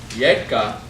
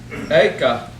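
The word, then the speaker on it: एक: Yeka starts with a Y, Y. But when we chant it, it's Eka, there's no Y.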